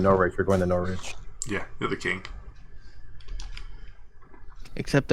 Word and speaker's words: Norwich: get a second opinion right not rich Norwich did not pronounce the W Norwich Norton glioma all